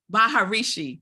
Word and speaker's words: Maharishi: I always say his name r wrong Mahar Maharishi Maharishi Maharishi so he's the Hindu religious leader